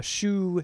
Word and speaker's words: Hsu: leaning towards the uh shoe CCB eight coaxial speakers that is pronounced shoe right yeah it is yeah